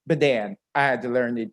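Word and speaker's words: Badin: you spell bedan b-a-d-i-n it's spelled like bad in b-a-d-i-n but it's pronounced bedan i had to learn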